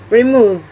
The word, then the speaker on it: remove: of this word is the eighth word is remove the pointex of this word is remove remove the stress is located on the second syllable and the meaning of